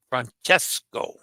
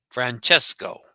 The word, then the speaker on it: Francesco: Try pronouncing Francesco. Francesco.